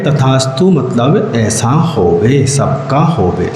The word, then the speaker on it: तथास्तु: जब आप ये उच्चारण करते हैं श्री शांतिरस्तु, तो आप लोग क्या बोलते हैं? क्या बोलते हैं आप लोग? सदास्तु। सदास्तु। हाँ, आप लोगों को यहाँ पर बोलना है तथास्तु।